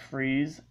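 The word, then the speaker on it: Fries: his real name is dr victor freeze uh with freeze um spelled pretty much the same way as fry's f-r-i-e-s but it's pronounced freeze um and a little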